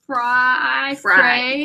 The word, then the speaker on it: Frey: Of course, In Game by James Fry. Everybody pronounces it Frey, but it's Fry. Technically, it's Fry.